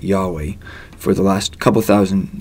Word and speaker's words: Yahweh: Most scholars believe God's name was originally pronounced Yahweh.